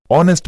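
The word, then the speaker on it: honest: ऑनेस्ट मैन गलत है क्योंकि ऑनेस्ट ने पहला अक्षर तो kaunson है किंतु जब हम इसका उच्चारण करते हैं तो इसको ऑनेस्ट बोलते हैं और साउंड हमें प्राप्त होता है इसलिए यहां एक जगह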